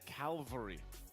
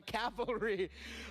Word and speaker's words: cavalry: just was surprised because I've always said Calvary instead of calvalry oh so you mixed up the L and the I mixed it up but that's the first thing that comes to mind oh pronouncing it correctly all right so you